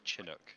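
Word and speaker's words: Chinook: stream has had somebody confirming how to say the word shinook on no M chinuk he just confirmed it you yeah chin he's saying chinuk well despite his spin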